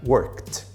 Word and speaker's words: worked: Aí o ED vai ter som de T, então você vai pronunciar worked.